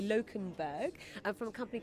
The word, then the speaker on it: Lokenberg: I'm going to make sure I pronounce the surname correctly. Lokenberg.